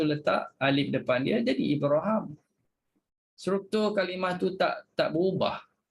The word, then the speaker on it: Ibraham: tadi kalimah Ibrahim semuanya Hisyam baca dengan Ibraham bagi jadi sebab itu dia tulis tak ada ya raikan qiraat lain bacanya bukan baca Ibrahim baca Ibraham bila baca Ibraham letak alif saja atas ha letak alif panjang atas ha tu ya